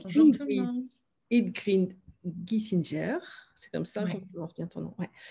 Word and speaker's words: Gissinger: Ingrid Giesinger, c'est comme ça qu'on Ouais. prononce bien ton nom. Ouais. On dit Giesinger, ouais. Giesinger. Euh, on se connaît toutes